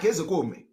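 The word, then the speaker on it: Ozekhome: Mike Ezekome. That is the real name. That is the pronunciation. Ezekome. All this Ezekome, put K, put H, all those things are nonsense.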